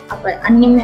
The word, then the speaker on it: anime: Jepang itu memang terkenal dengan anime ya, anime ya bacanya gitu ya.